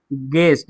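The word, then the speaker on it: guest: रहता है तो यू क्या हो जाता है, साइलेंट। देखिए जी के बाद यू है और वॉवेल के पहले यू है तो गेस्ट, इसको क्या पढ़ेंगे, गेस्ट।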